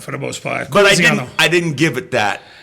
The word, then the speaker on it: Colizziano: Colizziano. The L is silent. How is that different? I just missed it. Yeah, the L is silent for the most part. But Colizziano.